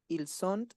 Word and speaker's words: ils sont: Je suis, tu es, il est, elle est, on est, nous sommes, vous êtes, ils sont, elles sont. No pronuncia la T final. Ils sont, elles sont.